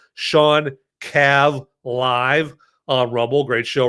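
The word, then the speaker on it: Shawn Cav: So it's spelled SH A WN and then Cav like Cavalere or Kavanaaugh. Sean Cav live on Rumble.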